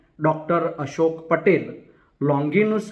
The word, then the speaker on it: लोंगिनुस: लॉन्गिनुस, अंग्रेजी उच्चारण लॉन्जाइनस, का पेरी इप्सुस पाश्चात्य साहित्य शास्त्र का अरस्तु के काव्यशास्त्र पेरी पोइटिकेस के बाद दूसरा प्रमुख ग्रंथ माना जाता है।